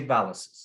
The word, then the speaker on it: VALEZUS: The RISO Valezus. Close. Valezus. Valezus. If you can say Pegasus, you can say Valezus. Well, if you pronounce it right, I hear you get a free one.